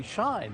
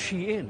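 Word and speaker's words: Shein: Americans are always going to call this company Shine. They're just not going to change their ways even though we know it's pronounced she in or she and the thing is it does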